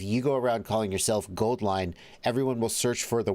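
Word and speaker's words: AuLine: make that happen uh euline gold line their name apparently is gold line but they spell it au line like au is the chemical symbol for gold gold line no one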